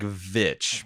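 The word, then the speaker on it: The VVitch: It's more like Vitch because it's spelled with two V's. It's a really long, drawn-out V.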